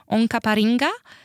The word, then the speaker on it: Onkaparinga: So areas like Prospect, Walkerville, Mitcham and Onkaparinga They're also highlighted as very hotspot for investors for housing shortages because they've got high population for limited supply.